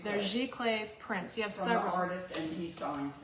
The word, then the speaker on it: giclée: Giclée. They're Giclée prints.